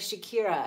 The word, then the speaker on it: Shakir: It's the masculine of Shakira. Shakir. Okay, gotcha. Oh, wow. That's how you pronounce it.